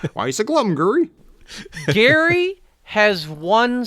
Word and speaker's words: Gary: bear you're like why is it glum guri gary has one spelling this is just sort of